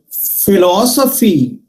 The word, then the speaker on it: philosophy: Similarly, philosophy, phi, one syllable. Law, another syllable. So, phi, four syllable. From ending to third syllable. Philosophy, phi, last one. So, second one. Law, third one. Just above the law. We put the stress mark.